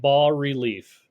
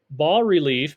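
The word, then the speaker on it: bas-relief: going to look at ball relief ball relief Bas is a French word uh pronounced ball the S is silent and relief sculpture means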